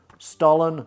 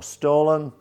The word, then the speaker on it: Stollen: going to be making Stollen or Stollen, depending on how you want to pronounce it.